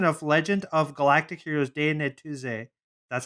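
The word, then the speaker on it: Die Neue These: this reads continuation of legend of galactic heroes daenery tuesday that's how they say it in the in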